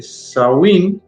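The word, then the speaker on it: Samhain: Dice, definitivamente los orígenes de Halloween se encuentra en el antiguo festival Celta de Shamain, pronunciado eh saí, celebrado hace más de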